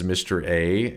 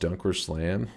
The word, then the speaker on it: DunkOrSlam: He keeps pronouncing my name as Mr. A. Uh, but uh, it's actually pronounced dunker slam.